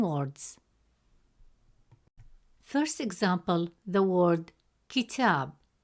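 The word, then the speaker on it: كتاب: First example, the word kitab. In the word kitab, meaning book, the letter ta has a fatha vowel, which gives it a short a sound, pronounced as ta.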